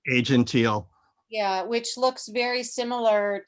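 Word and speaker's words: Aegean Teal: Moore's color of the year is am I pronouncing it right? Asian teal? Asian teal.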